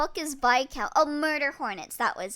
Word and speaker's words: Viscount: Viscount is pronounced Vcount, not Viscount.